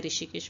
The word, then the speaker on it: ऋषिकेश: अब यहाँ पे एच साइलेंट है ऋषिकेश में.